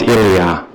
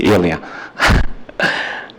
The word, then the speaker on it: Ilia: gentlemen and the counselors my name is Ilia like it's easy Ilia and uh thank you